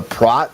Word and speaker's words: Prot: Like the Prot or something? He told me it's pronounced Prot. It's based on his favorite movie, K-Pax.